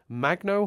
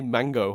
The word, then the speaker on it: Magno: I never know how to pronounce her surname. And Dee Magno Hall. Or I always want to say Mango Hall, which is clearly not what it is.